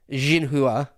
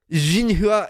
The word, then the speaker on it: Xinhua: Xinhua. I think X is pronounced like a Z. Or it's more like a Z sound. Xinhua.